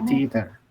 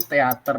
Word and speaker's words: theater: Bacanya theater. Theater. Mesti jangan makan tempe nih. Jadi kebiasaan kita bilangnya kan teater gitu ya. Ini bacanya theater.